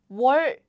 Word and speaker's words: 원래: So it's like 원래. So this is like 워, right? 워. And this is like 원. However, now we prefer having double L's because it's easier to pronounce.